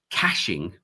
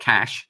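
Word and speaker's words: cache: So, it's for for I have to pronounce this right, cashing. It's not cash. It's C A C H E as in chests of gold.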